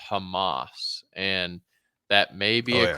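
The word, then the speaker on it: חמס: that word wrong if in the Hebrew is pronounced Hamas and that may be a curse right there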